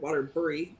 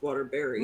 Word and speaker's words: Waterbury: In Connecticut, we have Waterbury, which is spelled B-U-R-Y. Nobody calls it Waterbury. It's Waterbury.